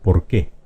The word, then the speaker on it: por qué: Esta que es una palabra aguda se pronuncia por qué.